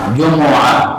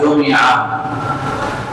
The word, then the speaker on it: جمعہ: جیم اور میم کے پیش کے ساتھ ہے، جمعہ، اور جو آخری تلفظ ہے میم کے زیر کے ساتھ جمعہ، یہ تو بالکل ہی کمزور ہے، کمزور روایت